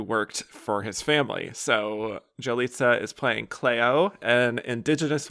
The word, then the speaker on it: Yalitza: So yeah, first of all, it's Yalitza, right? Yes. Yep. Okay, if I pronounce it right, I'm sorry. German accent and yeah. It's No, all but good. Jalitza.